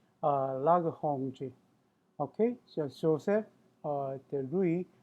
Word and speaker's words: Lagrange: Actually, that's the French pronunciation. Uh, for his name, Lagrange. But the it, I usually try to pronounce like the people's names, the following like their the respective the languages. However, in this case, if I do that mixed with English, it sounded really funny. So I was sticking to English pronunciation Lagrange, but it's supposed to be Lagrange.